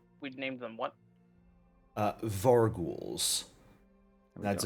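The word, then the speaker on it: vargouille: Yeah, it's like gargoyle. Got to bring that. That's really weird. It's French.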